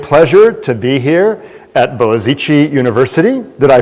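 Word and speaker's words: Boğaziçi: my my great pleasure to be here at boazichi University did I pronounce that almost correctly yes it's a very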